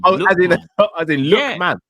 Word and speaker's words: Lookman: or gasparin decid say his name was lukeman lukan that's his name no that's his name lookman yeah that's that's I that's say it's lookman it's Lan yeah I'm I'm sure it is L not Lan no